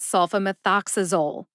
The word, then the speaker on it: sulfamethoxazole: with sulfamethoxazole sulfamethoxazole has six syllables they are soul like sulk like familiar meth like methanol Ox like the animal the ox uh which is that lovely schwa vowel sound uh and Zol which rhymes with mole put that all together and you get sulfamethoxazole which syllables have the emphasis there are two they are soul and ox Sol gets the secondary emphasis Ox gets the primary emphasis